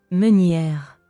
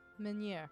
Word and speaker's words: Meunière: Meunière. Meunière.